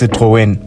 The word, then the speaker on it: Citroën: argue about pronunciation of whether this car is a Citroen a Citron or a Citron the correct way to say it according to multiple sources is Citroen but for the purpose